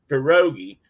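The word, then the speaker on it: pirogue: you guys asked me about my spellings on perogi and that's how it's pronounced I check that too first perogi and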